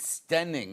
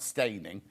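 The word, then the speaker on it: Steyning: You might pronounce it stening apparently, not staining.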